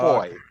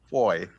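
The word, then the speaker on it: Fahie: Ah, Foy. All Yes, right. Foy.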